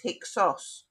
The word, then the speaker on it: Hyksos: back at Egypt's history they pronounced heka hassut as hicksos with the Greek ending so we now know them as the hixels but so for example